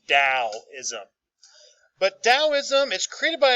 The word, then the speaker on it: Taoism: a t but it is pronounced like it starts with a d so it's dao ism but taoism is created